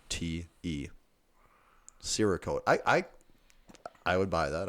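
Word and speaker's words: Cerakote: that rogue is doing I believe it's I believe it is a soft C that's not a coat okay Sarah and I've said sirrah coat in my head does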